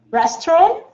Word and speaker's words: restaurant: Restaurant? T is not pronounced.